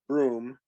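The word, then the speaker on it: Bruttenholm: Stateside and then Trevor Brewton home pronounced broom who's some kind of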